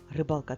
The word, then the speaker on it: рибалка: потім Повертайся до мене рибалка та риба в зошиті поставимо наголоси в слові рибалка наголос над буквою а в другому складі посередині слова а в слові риба наголос